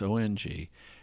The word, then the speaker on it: Ung: the show notes um i think the person's name is bernard ung i'm probably pronouncing wrong it's ong and he did something